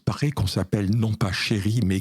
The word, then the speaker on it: Chéri: nom, parce qu'il paraît qu'on s'appelle non pas Chéri, mais Xéri avec un X. Et comme le X se prononce CH, donc c'est devenu Chéri, et je préfère effectivement qu'on dise Chéri que Xéri.